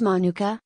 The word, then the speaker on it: manuka: type of honey that hails from New Zealand pronounced manuka it's named after the manuka bush from which